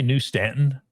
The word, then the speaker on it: New Stanton: If you say New Stanton, they just look at you like you're kind of funny. The accent, the accent is on the new.